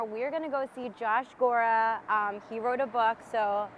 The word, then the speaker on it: Gorra: Gorra. It's Gorra. pronounced Gorra, but everybody says Gorra.